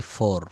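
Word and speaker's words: four: এই শেষে শব্দের শেষে আর বা র থাকলে ব্রিটিশরা এটা কিন্তু উচ্চারণ করে না। যেমন আমরা বলি ফোর।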